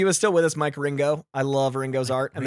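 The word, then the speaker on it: Wieringo: I think his art is Mark Waringo. Waringo. But it's pronounced I literally Ringo. typed in Ringo, like Ringo Starr.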